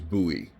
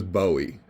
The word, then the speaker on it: Bowie: done in Northern Texas it was buoy as in Boo buo E uh other parts of the country it was Bowie but since no one really knows how James buy Bowie um pronounced his own name either one is right and everyone knows what